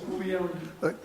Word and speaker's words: Leone: Leone. You pronounce the E at the end? Yeah, we do.